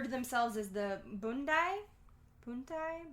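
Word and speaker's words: Punti: the boondai puntai bundai it's spelled with the B but it has a p i don't know but which meant and the parenthetical was like p-u-n-t-i but I think in Cantonese it's like b-u-n uh hyphen d-a-y ah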